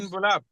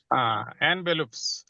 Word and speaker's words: envelopes: তারপরে আর দোস এনভেলপস, ওইগুলা কি এনভেলপস, ইনভেলপ, এনভেলপস, এনভেলপস, এনভেলপস, এটা ইয়ার উচ্চারণ হবে, ইনের উচ্চারণ এনভেলপস। envelopes, envelopes.